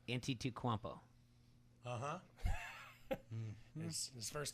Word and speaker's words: Antetokounmpo: Giannis Antetokounmpo.